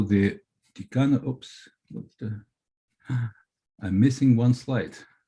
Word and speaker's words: Tikhonova: One of those students was 16 years old Nina Tikhonova, sometimes pronounced as Tikhanova in English manner, who in her memoirs described her shock, her utter shock.